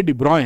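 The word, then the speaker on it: de Broglie: waves भी बोलते हैं डी बरगली लिखते हैं लेकिन पढ़ते डिब्रॉय हैं अंग्रेजों ने यही कर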